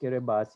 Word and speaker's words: Kiribati: and with large coastal economies so kiribati it's pronounced kiribati even though it's written as kiribati which is